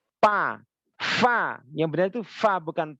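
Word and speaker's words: ف: Fa harus cepat bacanya Fa Ya gigi atas ini gigi si atas tempelkan di batnusfa perut bibir bawah Fa jangan sampai bibir bawah nempel dengan bibir atas bibir bawah nempel seperti pa pa pa Fa yang benar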